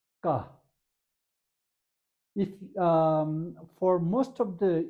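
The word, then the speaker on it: ཀ: This is ka. Ka. If for most of the English speaking students, they have some difficulty pronouncing the first letter ka. Ka. So when you say ka, there shouldn't be any aspiration.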